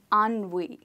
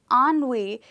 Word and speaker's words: ennui: ‘Ennui’ yes that's the word we pronounce it as ‘ahn-wee’.